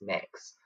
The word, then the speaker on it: Mx: a non-binary title of MX which is pronounced mix but I don't personally